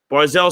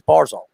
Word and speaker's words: Barzal: He doesn't even say his name right. He says Barzal. It's Barzal. I mean, that's how he pronounces his name, Barzal. Barzal. No, it's Barzal.